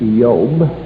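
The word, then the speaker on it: איוב: is messed up actually in the hebrew it's pronounced yob and you'll find in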